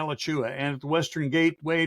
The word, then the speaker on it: Alachua: A name that most people cannot pronounce when they look at it and go, Alachua. Alachua, yeah. Yeah, Alachua.